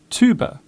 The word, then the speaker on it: tuber: In American English, the hard T is often used in most words beginning with TU. Words such as tube, tune, tutor, tuber are all pronounced with the hard T.